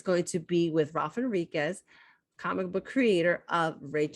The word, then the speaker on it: Henriquez: So today I am here with Ralph Henriquez. The H is silent, folks, just in case.